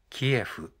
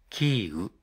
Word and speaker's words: キーウ: 開始した後日本政府やメディアの多くはウクライナ語の発音に近いキーウに変更しました軍事進行している側のロシア語の発音に基づいているキエフは適切ではないという